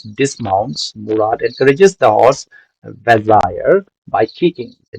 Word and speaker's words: Vazire: Uh, Vazri, no, it is Vazire. Vazire, okay? Vazire. Correct pronunciation is Vazire.